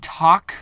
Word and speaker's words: talk: rest of your life the word talk shouldn't have an L in it it should be